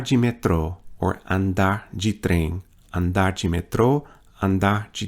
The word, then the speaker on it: trem: Train is trem. Notice the nasalization of that vowel. O trem.